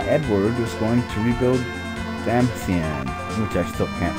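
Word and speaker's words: Damcyan: Edward is going to rebuild Damasian, which I still can't pronounce right. They meant it to be Damasian, but something like Damascus. It's like they said Dam and then Cyan in the same word.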